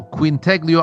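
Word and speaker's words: Quintaglio: Yeah, it's called the Queen Tag Leo Ascension Trilogy and it's spelled Q U I N T A G L I O. Quint Teglio Ascension trilogy.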